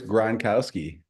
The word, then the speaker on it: Gronkowski: for me I like that way uh Chris gronowski Butowski I love it I love the ACC